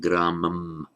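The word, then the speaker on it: grāmam: Without the Sandhi, I pronounce gramam as it would be pronounced in isolation, using the pure M, consonantal M sound, gramam.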